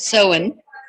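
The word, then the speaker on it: Samhain: we all know about Halloween which is called sohen spelled s-a-m-h-a-i-n but um pronounced so um and yeah belting the first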